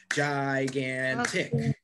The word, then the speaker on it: gigantic: i emphasize gigantic well it's the second syllable this word has three syllables gigantic right three syllables and